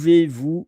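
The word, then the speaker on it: vous: e z pu and then dash and then vu v o u s pu vu m and I will also write that in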